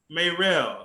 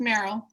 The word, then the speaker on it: Meryl: And inshallah, we have, Sister Marcy Mayrell. Am I pronouncing that correctly? If I'm not, you can correct me. It's just Meryl.